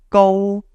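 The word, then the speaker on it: 高: It's pronounced go, right? Now, you might not be familiar with Cantonese tones, but this go is actually called tone 1 in Cantonese.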